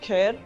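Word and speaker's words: KARE: and Rehabilitation education but it sounds like the word care which is what we want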